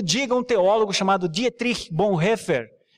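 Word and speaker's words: Bonhoeffer: teólogo chamado Dia Triste bom refer essa a pronúncia mesmo tom que tem que bom refer tá a é porque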